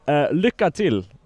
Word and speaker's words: Lycka till: Lycka till. Well, that's actually quite good. Yeah, I'm the best at pronunciation.